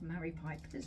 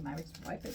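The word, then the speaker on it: Maris Piper: So I got a bag of Mary Pipers, or Mary's Pipers, depending how you like to pronounce it.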